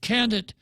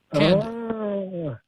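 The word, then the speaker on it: Kandit: Candid is the Chamorro word for light. Candid. It sounds like C-A-N-D-I-D. Yeah, so, Candid, as in opening. Yeah. So K-A-N-D-I-T. If it's dark, you say, Baba Fanny Candid, open the light.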